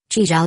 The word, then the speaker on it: Chi Zhao: At that thought, Chi Zhao decided to teach Li Huizi how to say his name himself.